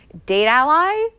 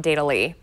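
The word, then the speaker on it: Datally: the Play Store is date Ally like it's spelled GA t al ly so we think it is pronounced a date ally and not data ly because like your ally for your data alright so I'm going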